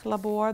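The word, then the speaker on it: Sprachlabor: those carols you know in German it's called the labor the speaking laboratory which rhymes with schlaf labor the sleeping laboratory we did a lot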